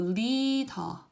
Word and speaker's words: 리더: sound, then the tongue, what it does is it touches the roof of your mouth right above your upper teeth. So it doesn't touch the teeth, just right above it. And it firmly presses and retracts.